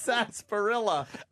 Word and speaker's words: sarsaparilla: Is that how you say it? It's sarsaparilla. I thought so. No wonder he never got me the right thing. I always said it wrong.